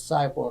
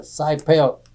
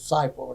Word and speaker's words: Seipelt: my father's name was Joe Robert, and he always pronounced his name as Seipelt, and he always liked people to say, pronounce his name right.